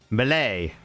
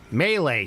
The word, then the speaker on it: melee: I fucking hate the way he says melee. Melee. Like he's trying to say milady. It's like melee. Just fucking say it right.